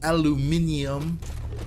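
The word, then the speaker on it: aluminium: There's some aluminum or aluminum as the British say.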